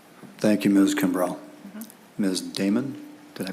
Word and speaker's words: Damon: Damon, did I pronounce that correctly?